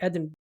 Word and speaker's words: Edinburgh: Am I pronouncing that right? Edinburgh.